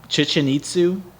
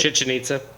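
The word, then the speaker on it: Chichén Itzá: Great Wall, Chichen Itzu. Is that how you say it? Chichen Itza.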